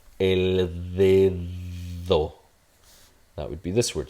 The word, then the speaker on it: dedo: So this is a voiced dental fricative. Similar to TH in the word the. So it's a the cat, right? El dedo.